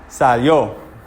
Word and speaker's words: salió: Salió. Salió. Everyone say it. Salió. Salió. Everyone. Good, okay. How many syllables are here?